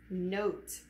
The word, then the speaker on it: note: Note. The word is note. Remember, Magic E becomes silent because he has no more power and he doesn't make a sound.